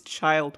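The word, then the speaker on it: Childe: also goes by tartaglia it's child with an e but that doesn't how do they even know that she said it wrong it literally sounds the same with her without an e hello miss tartaglia will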